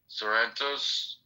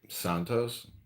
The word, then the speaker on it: Santos: No, but but Sarrentos, is that how you say his name? Santos.